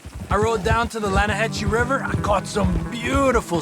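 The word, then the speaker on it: Lannahechee: The other day, I rode down to the Lanahatchee River. I caught some beautiful steelhead trout. You mean the River? No. The Lanahatchee. It runs right near here. Yeah, but it's pronounced Lanahatchee.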